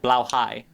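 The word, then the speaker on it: Blåhaj: How do you pronounce it again? Blauhigh.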